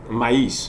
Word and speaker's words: maïs: We pronounce the O different, but the E different. Noël. You have another example. We have maïs. Look at this, M-A-I-S, maïs.